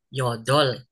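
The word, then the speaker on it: 여덟: Nah, yang ini bacanya yodol. Nanti ya, tulisannya begini. Yo, tulisannya yodol gini ya, bacanya yodol.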